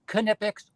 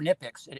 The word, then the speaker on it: Knipex: But you can call them Knipex or Knipex, and both are proper.